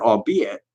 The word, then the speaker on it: albeit: The archaic word, albeit, does not rhyme with eight.